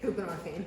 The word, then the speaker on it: buprenorphine: And you're equating lack of treatment with access to whatever, how you pronounce that thing? Buprenorphine.